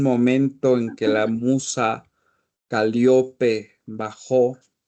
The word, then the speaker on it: Calíope: Es Calíope, Con con casa. acento en la I.